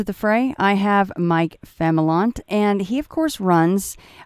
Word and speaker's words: Familant: All the times that I've seen your name, for some reason I want to say Familant, but it's adding an I there that is not there. So yeah, Familant makes a lot more sense.